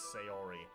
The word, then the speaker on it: Sayori: Monica is close enough natsuki is pronounced natsuki and sayori is sayori uh Yu-Gi-Oh is a